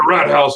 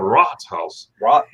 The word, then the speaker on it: Rathaus: Germans out there, if I pronounce that wrong, please forgive me. But it's not a Rathaus; it's the Ratshaus.